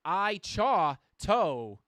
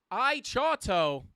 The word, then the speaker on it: iChato: Shout out to iChato, pronounced I-Chaw-To. Am I getting scammed here? All right. I'm going to be really careful for future reference. Keep the positive info flowing. Okay. I-Chaw-To.